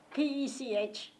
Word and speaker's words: Pech: But my official name is Pech, Pech. And it's pronounced Peich? Pech.